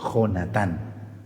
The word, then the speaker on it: Jonatán: sabemos o no entendemos, pero se dice Jonatán. Jonathan es con Y, ¿correcto? Si el jovenazo se llama Jonathan con Y, entonces es Jonathan. Si es con J, es Jonatán. Hay que saber pronunciar, señoritas,